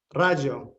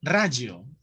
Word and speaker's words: Raggio: ¿Cómo se pronuncia tu apellido? Rayo. Rayo. Ajá. Ese es Como Roberto Baggio, pero con R.